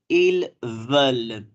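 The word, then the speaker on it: ils veulent: third person plural is ill well I L S this s is silent and here this e and t is also silent we pronounce this as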